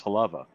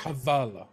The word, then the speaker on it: Havala: It's the L in the middle. Havala. Havala. You've been pronouncing like it Halava? That's what I said. But it's Havala.